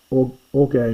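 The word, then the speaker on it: ὀργῇ: You don't pronounce it, but there's a little iota written down the bottom here. Or orge. Orge means anger, and this is orge.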